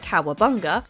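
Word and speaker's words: Cowabunga: came up with the nonsense word which he pronounced cowabanga as a greeting or an exclamation somehow it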